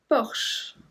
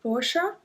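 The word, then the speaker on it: Bosch: for the next one Bosh Bosh some people said Porsha we said Bosh Bosh also the car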